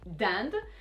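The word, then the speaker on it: dinde: look at it yes turkey the animal you do say dunde but the country no that's not how you say it you actually say lechuki and if this company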